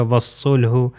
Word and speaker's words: والصلح: طرح نیکسٹ والا یہ الف اور لام کو کلر کیا ہوا ہے، ریڈ کلر ہے یعنی تلفظ نہیں کیا جائے گا، تو یہ ہو جائے گا والصلح، واو جو ہے سواد سے مل جائے گا۔ Next example